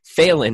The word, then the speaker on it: Phelan: Stephen Phelan, as in Phelan to communicate.